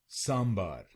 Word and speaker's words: sambar: what's sandar sand bar let's learn how to pronounce this South Indian sambar s s yeah sambar I I don't know